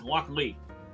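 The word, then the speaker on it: Lochlea: So after flipping through the 2023 Malt Whiskey Yearbook, apparently I've been pronouncing this wrong. It's Loch Lee.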